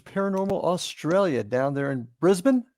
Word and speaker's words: Brisbane: I'm here with Dan Ricard from Night Watchers Paranormal Australia down there in Brisbane. Is that properly pronounced? Yeah, Brisbane, yeah.